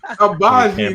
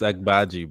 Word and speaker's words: Agbaji: Abaji, nigga. No, nigga. It's exactly how it's pronounced until he's it's Agbaji, bro. It's Agbaji.